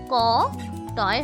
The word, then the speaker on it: কটি: ক টয় হ্রস্বইকার কোটি। এই কোটি শব্দের অর্থ হলো কোমর। দেখো কয় ও কার, টয় হ্রস্বইকার, কোটি। এই শব্দেরও কিন্তু উচ্চারণ কোটি, অথচ এর মানে কিন্তু আলাদা।